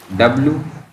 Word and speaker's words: would: Okay, WOULD, would, not would. Would, L is silent word.